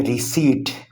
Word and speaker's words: receipt: हम कुछ चीज़ ख़रीदते हैं और दुकानदार से कहते हैं हमें रसीद बना दें, इंग्लिश में इसको कहते हैं रिसीट, रीसीट, P साइलेंट है।